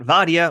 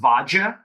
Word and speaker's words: Vadia: joining me now across the screen we've got vodia or vaj Penza vaj how's it going hey